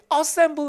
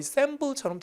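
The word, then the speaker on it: assemble: 소리로 듣는 연습하시면 있어서 이게 어셈블 맹이 아니라 거여 쌈 부인처럼 들려서 검에 어셈블 이라고 하였지만 소린 거의 쎔 부처럼 드립니다 그렇게 이제 실제 철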